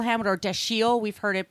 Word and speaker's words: Dashiell: life uh he was born and it's Samuel dashel ham or dasi we've heard it pronounced two different ways I think that's correct lilan Helman in that interview says that the correct pronunciation is actually Dil the we've always heard dashel I mean I don't